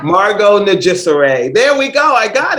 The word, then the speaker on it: Nijsure: bad at it so and so would you pronounce your last name for all of us sure it's najissaray margo najisare there we go i got it you see